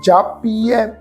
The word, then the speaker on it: जापिए: हर हर हर हर जापिए, जापिए ए पाठ प्रोनाउंस करना है जी, जापिए।